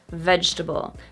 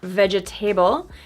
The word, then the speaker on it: vegetable: Number 9, vegetable. Not vegetable, but vegetable. Vegetable. So that first syllable is so strong, it makes the second syllable disappear.